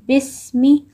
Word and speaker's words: بسم: بسم الله الرحمن الرحيم Important points in the word bismi here on seen there is sukoon, so we are going to read it with the previous letter together, bismi like this, and then bismillahi.